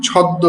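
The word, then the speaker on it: ছদ্ম: মফলার উচ্চারণ লুপ্ত হয়। যেমন ওই যে মফলা বলতে কি? ওযে এখানে দেওয়া আছে কি? ছদ্দ বলে না ছদ্দ নাম।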